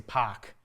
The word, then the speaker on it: park: Um, you know, like for example, Boston, when they say park, they say pac. They don't say the R for whatever reason, right?